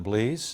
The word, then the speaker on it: Blease: My name is Blease. The last name is spelled B-L-E-A-S-E, like please, but with a B.